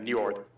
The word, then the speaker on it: Njord: one that's missing is njord yeah okay uh how can you pronounce that new york you see you just did it no problem because it sounds like north but new york you